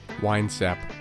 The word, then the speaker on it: Winesap: I'm gonna figure out how you pronounce it right now. Dude, nobody else is saying the name of this OS. Oh, hold on. Winesap. Winesap, according to Google.